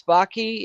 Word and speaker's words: Baki: Yeah, so I am Baki. It rhymes with hockey.